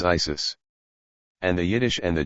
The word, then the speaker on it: Iesous: The Greeks pronounce the name of Christ as Iesous.